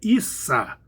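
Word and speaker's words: عيسى: No Alcorão e em outras fontes muçulmanas, o nome tradicional para Jesus é Issa, Ain, Ia e Shin.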